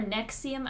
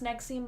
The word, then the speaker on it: NXIVM: it's either Nixie amor nexium I think it's supposed to be pronounced next scene but them so I'm gonna sing nexium it's spell and XIV M all capitals I